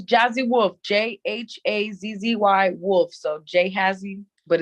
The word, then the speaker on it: Jhazzy Wolf: It's Jhazzy Wolf, Jhazzy Wolf. So Jhazzy, but it's pronounced Jhazzy Wolf.